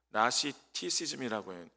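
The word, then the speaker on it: Gnosticism: 이제 영어로는 그 G가 묵음이어가지고 나시티시즘이라고 합니다.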